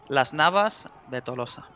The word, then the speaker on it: Las Navas de Tolosa: Okay, in proper Spanish. Las Navas de Tolosa.